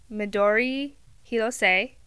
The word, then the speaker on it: Midori Hirose: So this is the Ranunculus pattern by Midori Hirose. I am learning Japanese, and that is how you say it. Midori Hirose.